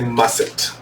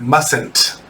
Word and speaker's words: mustn't: out the window now why did i say musset first of all let's learn how to spell it m-u-s-t in apostrophe t mustn't that means must not that means you cannot do this you must not do this and we read that mustn't mustn't so write the sentence